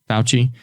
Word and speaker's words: Fauci: And as far as we know, with how do you pronounce his name, Dr. Fauci or Fauci? Fauci.